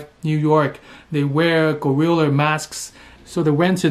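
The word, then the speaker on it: Guerrilla: And actually, the name Gorilla has nothing to do with gorilla, but it just they share the same pronunciation, so they just put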